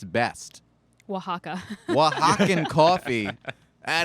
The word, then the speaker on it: Oaxaca: 100 single origin coffees no bs blends from oaxaca are you impressed that i knew how to pronounce that yeah impressive um the ad read